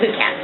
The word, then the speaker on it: Lukats: I have a hard time pronouncing it. It's Lukats.